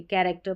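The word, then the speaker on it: character: कैरेक्टर पढ़ते हैं।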